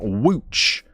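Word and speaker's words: Łódź: And I'm pretty sure that's how you say it, wooch.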